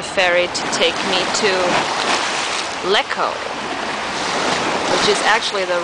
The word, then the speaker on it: Lecco: waiting around for the ferry to take me to Lecco, which is actually the right pronunciation for the island that I want.